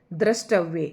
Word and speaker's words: दृष्टव्य: दृष्ट व और ये इसमें मुश्किल यही है कि ट की जगह पर कई ठ कर देते हैं जो कि गलत है तो क्या आ जाएगा